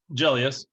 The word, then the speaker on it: Gelios: i pronouncing your last name correct did i pronounce it correctly julius yeah exactly you know bless america so you guys jason jelius oh my god so i met him on